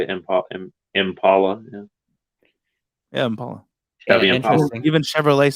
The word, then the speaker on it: Impala: how we pronounce it we pronounce it with like an ah and they pronounce it with like an a sound really that's where it's the D but Impala Michael don't pretend it's